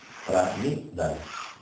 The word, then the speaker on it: Pranidhana: Isvara es I-S-W-A-R-A, Isvara, y Pranidhana, pues tal como suena, con DH. Pranidhana.